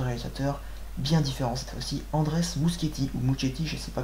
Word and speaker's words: Muschietti: bien différent si andres mousse kitty ou gucci je sais pas comment on prononce moi qui rêve objective mais on dit musketier apparemment le réalisateur de mam